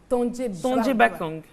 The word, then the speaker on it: Tonje Bakang: Tonje Bakang. Le G même ne se prononce pas.